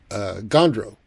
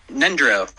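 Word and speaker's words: Ngöndro: And it was about Gondro and what that is. Yeah, Nendro.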